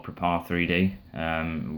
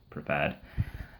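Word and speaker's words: Prepar3D: X Standard Edition to Prepared or Prepare 3D, whichever way you want to call it, but it's actually pronounced Prepared.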